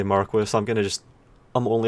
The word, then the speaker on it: marque: case that the original etymology is of course marque in all cases and the only exception relate to that as being the acceptable pronunciation as an England where for some reason